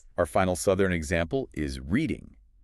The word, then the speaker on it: Reading: many people to say red. But the critical distinction is that it's pronounced exactly like the verb reading, as in I am reading a book. You have to keep that long e sound.